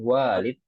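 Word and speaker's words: والد: itu anak ya baru tapi kalau setelah wya ada Alif seperti ini Walid dibacanya itu artinya Ayah ya Adan ini ayah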